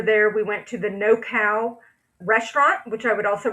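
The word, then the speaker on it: Nokau: Is spelled n o k a u, but it's pronounced No Kau.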